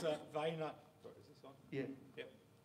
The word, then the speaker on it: Vonk: Now, what is your how do you pronounce it? Because I'm going to get it wrong. Yeah, it's Vonk.